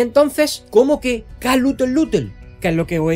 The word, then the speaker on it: Cthulhu: cuento La llamada de pronunciando aquella extraña palabra como Cthulhu. Cthulhu. De repente, Lovecraft se sorprendió y más tarde me corrigió, diciendo que debería pronunciarse Cthulhu.